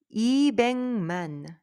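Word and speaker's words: 이백만: là 2 million alors ça se prononce comment ibengman iengman à cause de la lettre gu suivie par la lettre N ou m ça change la prononciationengman 3 million sambengman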